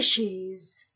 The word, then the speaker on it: chaises: un S cheise et je ne lis pas le S je ne prononce pas le S et avant le mot